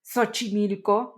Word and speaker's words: Xochimilco: of indigenous origin, because the X, like in Xochimilco, can sound like S, like in Xochimilco, or in some cases sounds like Mexico, although it's spelled like Mexico.